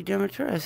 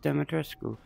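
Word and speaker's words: Dimitrescu: make a purchase he calls it a lady Demetrius that's Americanized like it's actually pronounced demetrasco oh hey I'm gonna make a purchase welcome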